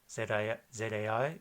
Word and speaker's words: zai: Z, it's kind of like Z's in Italian or German. It's like a TH, it's z. So if we have a syllable zai, Z-A-I, it's zai.